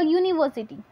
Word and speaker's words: university: When we say if for example university, then we use a A. क्या हुआ, यहाँ पे जो स्पेलिंग है वो वोवेल से स्टार्ट होती है पर उसका जो प्रोनाउंसिएशन है वो कॉन्सोनेंट साउंड करता है, इसलिए हम उसमें ए